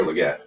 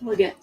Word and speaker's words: Legette: Xavier Legette. Legette.